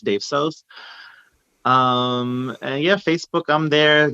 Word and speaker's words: DAVSOS: IG and Twitter is at DAVSOS, pronounced Dave Sos.